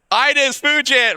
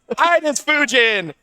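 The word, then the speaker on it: Ines Fujin: How do you pronounce it? Enes Fujin. My bad, boss. All right, I got it. Enes Fujin.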